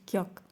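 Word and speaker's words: 기역: This letter is called kyok. Okay, and it's pronounced at the G or between the G and K in English, but I urge you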